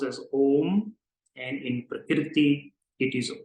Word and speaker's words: om: o o o o and it's pronoun pronounced as om together om so it's not this it is oh it's like the lifeline so the a is a bit higher than the other two tones I repeat two more